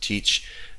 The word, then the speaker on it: tcsh: certainly bash the the tcsh enhanced seashell sometimes pronounced teach uh the corn shell is another one there's